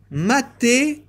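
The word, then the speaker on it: μαθητεύω: Le mot disciple, j'ai oublié de vous le citer, en grec, il a une importance aussi, ça se dit mathétuo. Mathétuo. Ça se prononce comme ça, et ça veut dire celui qui suit une instruction.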